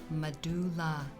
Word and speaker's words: medulla: The medulla, pronounced medulla.